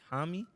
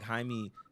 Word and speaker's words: Jaime: think you say yeah you gotta say it like Jamie but yeah you know it's you know he's the like Mexican descent um so I believe it's like Jaime um yeah Junior which